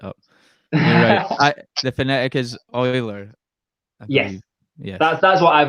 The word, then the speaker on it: Euler: just messed it up I the phonetic is Euler yeah yes that's what I've always been told